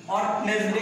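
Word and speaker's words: Wednesday: ডি এ ওয়াই ওয়েডনেসডে এখানে ডি কিন্তু ঢ ওইভাবে উচ্চারিত হবে না ওয়েডনেসডে কিন্তু হবে না ওয়েডনেসডে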